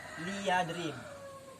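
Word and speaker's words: ليضرب: Lam amar itu dibacanya kasroh ya, liyadrib.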